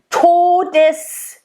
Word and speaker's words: Todes: So you want to make sure you get to, nice, closed, O, not todes. That's what I hear a lot from English native speakers.